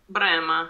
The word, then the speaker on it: Brahma: pronounce this brand uh brahma oh brahma brahma yes we say brema yes i was expecting like brahma or something like this but no because this letter h in the middle but you